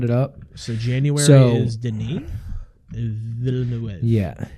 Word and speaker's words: Denis Villeneuve: So January is Denis Villeneuve. Yeah, Villeneuve. I think Denis Villeneuve, because he's technically French.